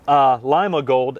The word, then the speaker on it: Lima Gold: And Lima Gold, as this is correctly pronounced, was named for Lima, Pennsylvania.